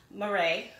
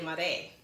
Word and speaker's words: Marais: small for me so this is called the Louis Vuitton Murray right um it doesn't sound like that so I had to kind of go out and try to figure out how to pronounce it so it's the Lum it's named after a district in Paris so it's called Uh Le mare that's the district in